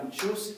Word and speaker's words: учусь: Okay, so я учусь, everything else the stress is on there.